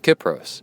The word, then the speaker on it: Kypros: By the way, it is pronounced Kip as in tip. Kipros, sent from my iPad.